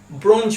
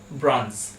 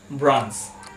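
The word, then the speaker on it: bronze: এন জেড এ এই ওয়ার্ডটা আমরা ছোটবেলা থেকে উচ্চারণ করে আসি ব্রঞ্জ বলে এটাই স্বাভাবিকভাবে সাধারণভাবে আমরা করে থাকি ব্রঞ্জ বাট এই ওয়ার্ডটার কারেক্ট প্রোনাউন্সিয়েশন হলো ব্রঞ্জ ব্রঞ্জ এরপর চলে আসছি আজকের ওয়ার্ড নাম্বার টু সি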